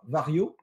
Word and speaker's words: Varjo: Ensuite, on va venir sur les annonces de Vario, qui s'écrit Varjo.